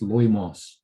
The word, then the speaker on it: loimos: I could get it out actually and have a look, but yeah, it's loimos is the English pronunciation. Can't remember how they pronounce it in Greek. Yeah, no idea. Anyway, so loimos, it means the one who sends the plague, the one who sends diseases.